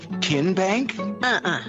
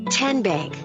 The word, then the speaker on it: TN Bank: the name tn bank no tin bank so what is it ten bank ten as in tennessee right here where all